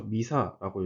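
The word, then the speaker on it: MISA: 줄여서 미사라고 읽습니다.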